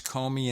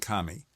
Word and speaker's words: Comey: James Comey online and one site had both pronunciations Comey and Kami all right so whatever